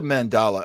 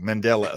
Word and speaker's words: Mandela: now okay this is a mandala effect I'm sorry I always say it wrong Mandela effect uh problem for me